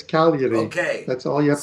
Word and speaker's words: Cagliari: just the G is silent, so it's Cagliari.